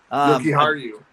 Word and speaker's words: Jokiharju: Jokiharju.